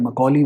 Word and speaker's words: Macaulay: मैंने बोला Mawali नहीं बोला, मैंने Macaulay बोला. That's the correct pronunciation of Thomas Macaulay, right?